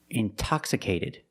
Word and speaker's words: intoxicated: Or words like intensive, intoxicated. We have the stress after the NT. We pronounce the T like a pure T.